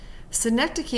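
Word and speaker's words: synecdoche: a sync and so we put the the pronunciation next to it sync key is a figure of speech in which a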